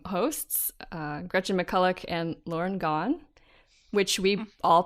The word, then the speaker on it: Gawne: Yeah, but she's nice and says that it's okay to pronounce it like Gone, as in Gone Girl.